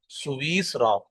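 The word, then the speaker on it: سويسرا: وتلک من سویسرا، اس کا آپ نے تلفظ ٹھیک کر لینا ہے. اس میں یا بھی ساکن ہے اور سین بھی ساکن ہے.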